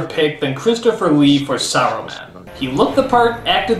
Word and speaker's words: Saruman: is for some reason they stopped pronouncing the S and simply call him Arrowman. Why? Is the S suddenly a bad word? Only because Arrowman is kind. It should have been his friend Arrowman. How long since Arrowman? Saruman, you idiot! It's pronounced Saruman! The S isn't silent!